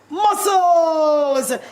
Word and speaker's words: muscles: Muscles. She got it. The S did not fool her at all. Don't forget the silent S is there for muscles.